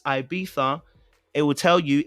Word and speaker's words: Ibiza: It's never been Ibiza. I need you to go and check it again. It's not Ibiza. Check the Google and check the Spanish way of saying it. It's not Ibiza. The Spanish don't say Ibiza. You don't say that. You understand? Maybe the Italians might say Ibiza because it's pizza, but they don't say it in the Spanish.